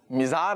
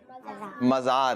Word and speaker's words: مزار: مزار بھی ہے۔ مزار، دیکھیں یہاں بھی اب درست کریں، مزار نہیں ہے، کیا ہے؟ مزار ہے، ٹھیک ہے۔ تو یہ آپ درست